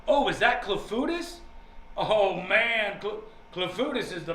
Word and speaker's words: clafoutis: But the entire movie was about clafoutis. Have you ever heard of clafoutis? And if so, is it good? Clafoutis. Clafouti? It's pronounced clafouti. They said clafoutis a lot of times in that movie.